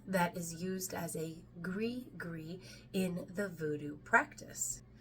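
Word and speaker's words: gris-gris: is used as a GRE gree in the voodoo practice now a gre gre is and that's g r i s g r i s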